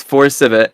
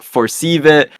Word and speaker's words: 4CVIT: everyone asked me like is it for civit for cvit for CIT um for I I've heard some weird pronunciations but if I'm being honest I don't care how people pronounce it they can pronounce it whatever as long as I can recognize that it's me that's fine but I think a very clean way for my name is just saying forc it's easy so that's what I